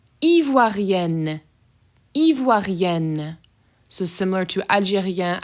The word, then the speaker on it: Algérien: Adjective, we have Algérien and Algérienne. So this first one is Algérien, open, sort of nasally end sound, and Algérienne, closed end sound where you're actually pronouncing them.